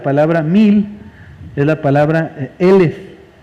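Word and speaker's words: אֶלֶף: mil es la palabra elef elef se escribe igualito que alef sin embargo lo único que cambia es la forma de pronunciar la alef en una se pronuncia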